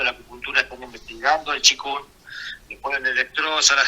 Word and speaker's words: qigong: Qigong. Qigong, sí, se pronuncia qigong.